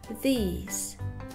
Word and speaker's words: these: Отличием является то, что местоимение «это» мы будем говорить как «this» коротко, а местоимение «эти» мы будем говорить протяжно «these», «this» and «these».